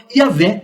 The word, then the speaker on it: Yahvé: Entretanto, aos poucos esse nome vem sendo substituído pela forma Yahvé ou Javé, que é a pronúncia mais próxima do original.